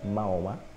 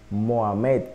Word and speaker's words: Mahoma: la genealogía de Mahoma como se pronuncia en nuestro idioma Castellano maoma Mohamed creo que más o menos es la pronunciación arabé la cabeza es Ismael